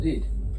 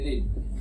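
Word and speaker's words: read: पढ़ना का इंग्लिश होता है रीड। आर इ ए डी रेड इसका सेकंड फॉर्म क्या होता है? रेड। Third form रेड। हालांकि स्पेलिंग सही होता है। ये सेम होता है लेकिन प्रोनाउंसिएशन अलग होता है।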